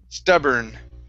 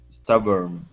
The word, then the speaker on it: stubborn: up is the word stubborn right here stubborn instead of born stubborn stubborn okay good uh next